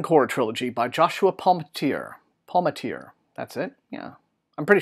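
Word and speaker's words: Palmatier: throne of ammon core trilogy by Joshua Palmateer Palmateer that's it yeah I'm pretty sure that sounds pronounced anyway this will be out on the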